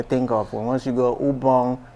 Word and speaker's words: Ubong: website you may think of once you go ubong inang production that's where I am you see